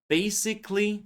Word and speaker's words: basically: Adverbs ending in ickyly basically, logically, magically and so on. We don't say letter A in these words.